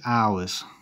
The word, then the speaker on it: hour: now the time is hours the time is hours silent h for hour it's hour time notice as well that